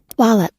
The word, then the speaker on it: Wallop: party wup right now how is that actually pronounced wallup oh okay this is the party wallup a